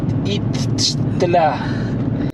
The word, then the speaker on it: Iztaccíhuatl: Itztla. No, es Mujer dormida. No, pero impronunciable.